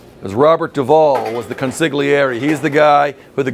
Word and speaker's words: consigliere: The confidant, or the consigliere. That's how you say it. If you can say it, that's cool, because people will love it if you can speak it in the Italian, because we are an Italian restaurant.